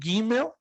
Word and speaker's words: Gimel: Depois temos o Gimel, soa como fosse seguido de um H aspirado muito rápido.